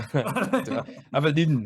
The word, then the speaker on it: Abrdn: Or Abrdn? Abrdn, yeah, they've changed their name to remove all the vowels.